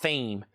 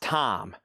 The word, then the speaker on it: thyme: Not th not theme. That's pronounced time.